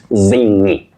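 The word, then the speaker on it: zingy: Well, the last version, the last variety that you've given us is the correct pronunciation. It's zingi. Zingi. In fact, the word comes from zing, which is imitative, and you say ni, zingi.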